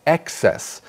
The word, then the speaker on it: excess: So that's excess. So for the other words, the adjective and the adverb, it's excessively, it's on the second syllable, but the emphasis for the noun is on the first syllable.